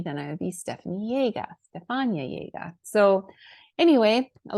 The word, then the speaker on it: Jaeger: So that's how you would pronounce it, Jaeger.